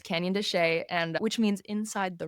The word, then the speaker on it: Canyon de Chelly: It's often mispronounced by the way cuz it's spelled Canyon Deselli but it's Canyon Desa and which means inside the rock.